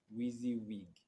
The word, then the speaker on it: WYSIWYG: WYSIWYG spelled as WYSIWYG, and it is pronounced as WEEEZEEWEEG. WYSIWYG.